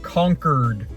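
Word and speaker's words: Concord: I did learn it's pronounced conquered like they've been conquered by concistadors.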